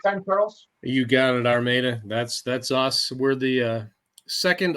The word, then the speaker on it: Armada: You got it, Armada.